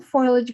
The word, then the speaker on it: foliage: okay so get some foliage green out i always say say it wrong but it's foliage and you want to